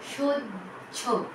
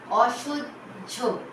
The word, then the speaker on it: সহ্য: শব্দের শেষে যখন হ থাকবে এবং তার সঙ্গে হয় জফলা থাকছে তখন কিন্তু উচ্চারণ হবে জ ঝ, জ ঝ, বর্গের জ, ঝয় করে ঝ।